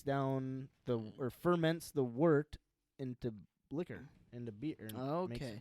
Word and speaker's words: wort: a wart pronounced oh wort w-u-r-t it's okay that's how you pronounce it it's spelled w-o-r-t but you pronounce it w-u-r-t word worked is non-alcoholic